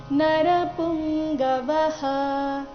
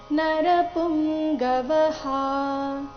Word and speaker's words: ನರಪುಂಗವಃ: ಕಾರಣ ಶೈಬ್ಯಶ್ಚ ನರಪುಂಗವಹ ನರಪುಂಗವಹ ವ ನಂತರ ಇರೋ ವಿಸರ್ಗದ ಉಚ್ಚಾರಣೆ ಹ ಅಥವಾ ಹ ಎರಡು ಸರಿಯಾಗಿದೆ ನರಪುಂಗವಹ ಅಥವಾ ನರಪುಂಗವಹ ಎರಡು ಸರಿಯಾಗಿದೆ ಪೂರ್ತಿ ಶ್ಲೋಕ ದೃಷ್ಟಕೇತುಶ್ಚೇಕಿತಾನ ಕಾಶಿರಾಜಶ್ಚ